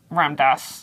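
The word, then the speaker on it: Ram Dass: Have you ever read Ramdas. Ramdas? That's how you pronounce it?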